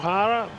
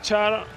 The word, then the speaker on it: Chara: Zdeno Chara, which is the right pronounce, even though he's known in the world as Zdeno Chara, receiving a very, very deserved award.